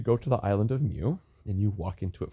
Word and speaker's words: Mu: the mythological island of Mew spelled muu pronounced Mew not moo not like a cow I believe it is